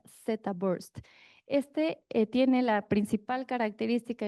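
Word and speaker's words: theta: Hay otro protocolo más reciente en el 2018 que se le conoce, aunque se escriba teta se pronuncia Zabst.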